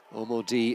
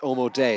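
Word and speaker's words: Omodei: He says Omo D is pronounced Omo Day, so apologies for that. Omo Day is how we should be pronouncing Paul Omo Day's name.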